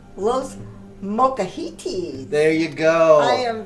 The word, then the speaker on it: Los Molcajetes: say it say it I can now say Lo mahiti there you go I am very proud of